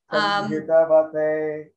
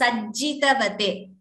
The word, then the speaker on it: sajjitavate: Sanjitavate. It is not sanjitavate, if that is what you chanted. It is sajjitavate. Oh, yes. It is not sanji. It is sajjitavate.